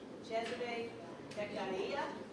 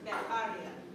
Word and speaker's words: Beccaria: Okay, I'm going to say his name, but it's going to be wrong. Cesare Beccaria? Okay, good. Because before I came to Naples, I would have said Beccaria.